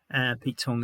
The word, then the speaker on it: Pete Tong: Pete Tong is a DJ from Radio 1, and his name happens to rhyme with wrong.